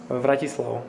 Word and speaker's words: Vratislav: Like, it's kind of like our capital city, Bratislava. Yeah. But if you change the first letter to V, yeah, and like you just lose the end A at the end A, Vratislav.